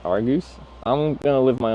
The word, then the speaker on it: Argos: It's pronounced Argus.